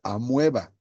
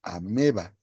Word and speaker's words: ameba: Amueba, la O antes de la E no se lee, no se dice amueba, se dice ameba.